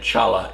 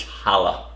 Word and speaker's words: challah: with my Jewish pronunciation I was calling it Chala it's Hala sorry but anyhow you